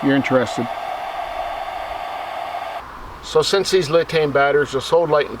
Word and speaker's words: LiTime: Now it's pronounced LiTime, not LiTime.